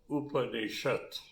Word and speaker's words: Upanishad: Upa is the first portion, Ni is the middle portion, Sat is the third portion, the last portion. They are being pronounced together. Upanishad.